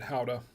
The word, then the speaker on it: Gouda: And yeah, I know they do pronounce it Howda, but not here in the U.S. It's pronounced Gouda.